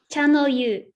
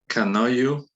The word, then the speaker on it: Chanoyu: Channel you. Canoyu? Channel you. So the CH is a hard sound. Cha. Yeah. So cha, and then no you.